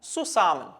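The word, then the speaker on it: zusammen: പറയുകയാണെങ്കിൽ ഈ ഒരു വാക്ക് സെഡ് വെച്ചിട്ടാണ് സ്റ്റാർട്ട് ചെയ്യുന്നത് സോ ഇത് വായിക്കുന്നത് സുസാമൻ എന്നല്ല സുസാമൻ സുസാമൻ സാ എന്ന് പറയുന്ന ശബ്ദത്തിൽ ആയിരിക്കും സ്റ്റാർട്ട് ചെയ്യുന്നത് ടുഗേദർ എന്നുള്ള അർത്ഥമാണ്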